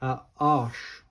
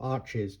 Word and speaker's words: Arches: Arch or arches, depends where you come from, how you pronounce that.